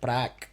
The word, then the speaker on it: Praak: me the way so this would be pronounced prac that's right just like an elongated ah yeah yeah i don't